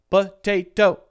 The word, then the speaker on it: potato: this syllable has or this word has how many syllables potato three syllables it is a three syllable word and the second one is stressed the second syllable T is stressed the first one